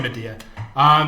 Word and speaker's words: Mediah: In Korean, it's Mediah, right? Mediah, yeah. So we'll say Mediah.